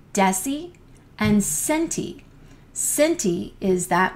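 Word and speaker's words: deci: our meter and then the D in drinking is desie notice everything to the right of the meter or the unit has a soft C Sound desie and centi centi is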